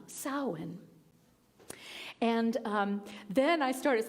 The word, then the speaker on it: Samhain: sowin and all Hollows it looks like Sam Hayne but apparently because the Irish alphabet has nothing to do with the English alphabet it's pronounced sawen sawen sowin and um then I